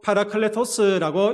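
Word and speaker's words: παράκλητος: 여러분이 보해사라는 말은요. 파라클레토스라고 읽습니다. 헬라어로 파라클레토스라고 읽는데이 단어에는 이런 의미가 담겨져 있습니다.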